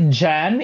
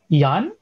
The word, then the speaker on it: Jan: we pronounce his name it's actually jan if you if you are taking it from the western perspective but i don't know maybe the some part of europe these they pronounce j as yan y so in a western perspective it's jan and also in the philippines but when somebody called me yan i also like acknowledge it depending on where you